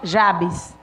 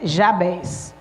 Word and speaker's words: Jabez: de jabá já bens alguns chama jabs mas a pronúncia mais correta é já bens e um certo tempo